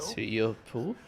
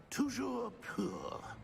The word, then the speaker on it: Toujours pur: I order you to pronounce it for me. But Master knows that Scrope's French is most pitiful. Very well. Toujours pour? Toujours pur.